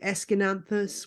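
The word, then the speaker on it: Aeschynanthus: a trailing plant called escananthus which is impossible to say when you see it written on a page but that's how you pronounce it anyway and they're beautiful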